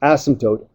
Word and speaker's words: asymptote: for you so it's asymptote a-s-y-m-p very silent M and P there asymptote if it's proper it's